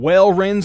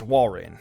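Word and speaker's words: Walrein: we're gonna get some whale reigns in floor of this coming week I know it's pronounced wall rain gorebyss gorebyss that's a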